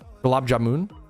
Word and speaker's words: gulab jamun: When I say Gab Jamun, I'm putting the emphasis on Gab Jamun. Gab Jamun. Gulab jamun. Gulab jamun. Gulab jamun. Gulab jamun. Is it like that? Gulab jamun.